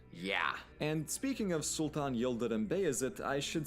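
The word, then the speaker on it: Yıldırım Bayezid: And speaking of Sultan Yildirim Beyazıt, I should say that my pronunciations have been cleared by my very Turkish college roommate Emre, so I'm doing my best here.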